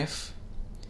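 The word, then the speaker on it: ف: cough the letter k f and the letter lame the letter corresponds to the sound f like the letter f in english and it has different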